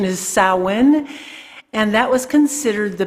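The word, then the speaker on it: Samhain: seasons summer and winter and winter starts with sowen it's uh spelled Sam Hayne but uh though the pronunciation is sowin and that was considered the beginning of winter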